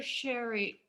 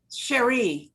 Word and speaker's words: Cherie: hi mama cherry or sherry cherry sorry i've said it wrong that's okay how do you say it cherie like ma cherie oh of course i